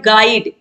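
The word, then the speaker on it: guide: Question 56 है विच letter is silent in the word गाइड। गाइड में आप देखिए GIDE आ रहा है, यू क्या है, यू साइलेंट है, यू को हम उच्चारण यू का नहीं कर रहे हैं, तो ऑप्शन ए जो है सही हो जाएगा।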